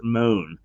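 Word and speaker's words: Mone: uh but it's it it seems that it is pronounced moan and she is uh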